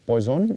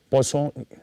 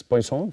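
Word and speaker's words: Poisson: pronunciation is uh not poison it is poon it is it is a French name it is pronounced as poone so po equation is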